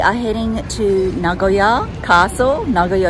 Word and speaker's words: Nagoya: heading to Nagoya Castle nagoa is really the correct way you should pronouncing it I've been saying ngoya which is not any way we are